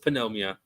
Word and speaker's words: pneumonia: to court Yeah, but we actually pronounce that P, pneumonia. I mean, yeah, so it's not the same thing. I know, I'm joking. I'm not an idiot. I know it's pneumonia.